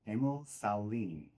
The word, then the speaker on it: Emil Sahlin: I'm going to pronounce this properly. Emil Sahlin, just like our hockey player from Sweden.